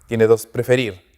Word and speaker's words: prefer: Prefer, preferir, tiene 2 sílabas. Prefer. La mayor fuerza de voz, ¿dónde está? Al final. Prefer. Yo no digo prefer.